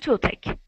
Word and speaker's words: toothache: Now, remember, that CH sounds like a K. K, okay. Ick, backache. Headache, and toothache.